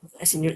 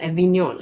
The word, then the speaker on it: Avignon: Oh, sorry, not Avignon. Avignon.